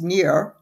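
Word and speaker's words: Nir: simply called hooked and it's the author is near eall very H odd name but that is supposedly the pronunciation it's n i pronounced near and last name is e y a l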